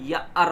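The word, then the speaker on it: year: जबकि प्रोनाउंसिएशन इसका ईयर ना होकर के या अर होता है, तो यहाँ पर आर्टिकल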